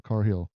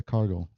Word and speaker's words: Cargill: Did I say Cargill or Carhill? Sometimes I say Carhill. Yeah, Cargill. Thank you, Joe. But anyway, yeah, Cargill. She or sometimes it kind of pronounces as Carhill. You know the G's in it.